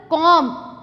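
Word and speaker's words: comb: कभी कभार टी से पहले आएगा for example कॉम कॉम इट्स कॉम next doubt silent I एम not saying about it's doubt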